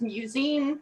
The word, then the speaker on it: musyne: also the band name, just in case I pronounced it incorrectly? Yeah, the band name is musyne.